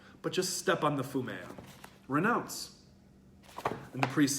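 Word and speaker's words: 踏み絵: a little icon, which in Japanese is called fumea. It looks like it's spelled fumi in the book, but I happen to know from a Japanese speaker that I've had in class before that it's pronounced fumea, this image of Jesus' face.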